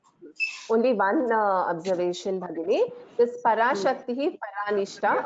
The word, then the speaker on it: पराशक्तिः परानिष्ठा: This Parashakti, Paranishta, after Visarga, there is a Pa Akshara. So this is a Upadhvaniya. So it has to be pronounced as Parashakti Paranishta. So after Visarga, if there is Pa, then Parashakti Paranishta. That is how we pronounce this.